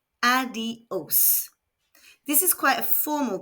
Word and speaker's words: adiós: Adiós. Remember that I in Spanish is pronounced E, and there is an accent on the O, so the stress needs to be placed there. Adiós.